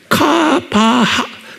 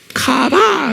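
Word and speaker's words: קָוָה: 히브리 말로 뭐로 되냐면 쿠, K가 아니고 Q예요. 그러니까 발음을 Q예요. 카바하, 이거 H, 하, 그러니까 카바, 이렇게 되면 카바, 이렇게 하는 거예요.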